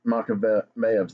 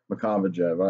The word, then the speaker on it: Makavejev: I thought it was Makavejev.